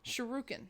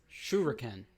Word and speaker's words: shuriken: a subscription yeah ranger shuriken sharokina sharokina no shuriken shuriken well thank you it's a japanese weapon i i always mispronounce that one uh thank you